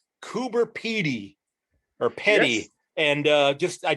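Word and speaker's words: Coober Pedy: And I ran into a place called Coober Petty or Petty. Yes. And I dropped the little guy. You pronounce it right the first time.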